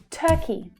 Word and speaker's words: Turkey: Turkey, Turkey. The stressed syllable is the first one, and it's the as in her vowel sound.